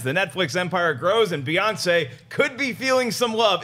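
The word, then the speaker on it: Beyoncé: actually according to how she spells it it's pronounced Beyonce Beyonce I here Christian haroff I might not take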